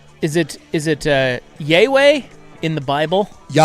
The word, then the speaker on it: Yahweh: So, how do they pronounce is it is it uh Yaye in the Bible? Yahweh.